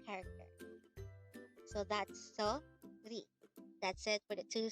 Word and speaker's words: 소리: SORI. This is composed of two syllables. The first syllable is so, and the second syllable is ri.